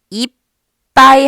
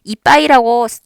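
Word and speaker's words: いっぱい: 이빠이 하면서 자연스럽게 입술이 붙어버려요. 받침을 하는 순간부터 입술이 붙습니다. 네, 이빠이라고 세 박자로 발음하시면 안 돼요. 지금은 글자가 4개, 4박자로 발음하셔야 돼요.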